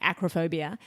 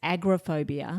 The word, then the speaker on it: acrophobia: They were explaining acrophobia and they kept saying acrophobia, but they they were pronouncing it as agrophobia.